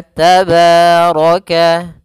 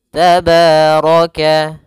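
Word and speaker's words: تبارك: Maka tabaraka tabaraka. Kemudian rnya dibaca tebal karena dia ro berharakat fathah.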